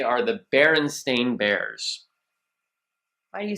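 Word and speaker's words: Berenstain: would say are the baron stain Bears why do you say it like that because most people think it's the baron steain or the baron Stein because a lot of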